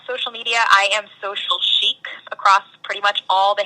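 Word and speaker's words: Sheek: media I am social Chic across pretty much all the handles um Chic spelled s h e EK like rhymes with geek because uh it was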